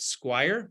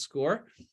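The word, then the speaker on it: SCOIR: uh show you the highlights of our program our database that's called score which is spelled s-c-o-i-r the kids like to call it Squire but it's actually pronounced score and I'm going to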